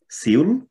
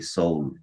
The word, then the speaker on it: Seoul: let you know that you are used to hearing seoul which is not correct actually the pronunciation you must have heard from kyung soo already that it's actually soul it's like your soul you know inside yes like heart so it's similar to that even though in bengali